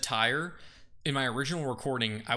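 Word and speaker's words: Tyre: Tear tire. I've been saying the wrong one. Mediterranean, the city of tire. I've been saying tier for months while researching this and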